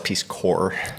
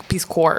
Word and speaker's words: Peace Corps: first of all it's Peace Corps Peace Corps there's a p in there's the p is silent okay Peace Corps yeah I don't know